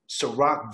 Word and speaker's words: Ciroc: Miami home at that time and he's stressed, but he understood the upside of what Ciroc vodka could be.